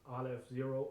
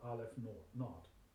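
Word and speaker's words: ℵ₀: with the index 0, pronounced Aleph 0 or Aleph naught.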